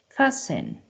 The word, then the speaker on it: fasten: carefully a accepts whistle fasten rle ballet Buffet G as you can see the t is not pronounced so it's really important